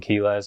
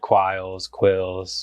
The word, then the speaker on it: Quiles: used to be Quiles, my last name. But everyone online always pronounced it wrong. They always said Quilles, some other dumb stuff.